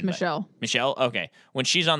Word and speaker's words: Michel: But then, when she's on the phone with Michael, I'll call it. I don't think that's the French pronunciation. I think it's Michelle.